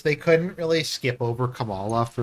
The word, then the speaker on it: Kamala: more like um than kamla yeah you know I feel dirty that I just pronounced it correctly is it Kamala it's Kamala yeah okay I feel incredibly